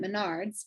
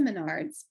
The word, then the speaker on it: Menards: The pumpkin wood piece I found at Menards, which we don't have here, but I know how to say that word. I think, am I saying it right? Menards? Yep, Menards. Yep, Menards.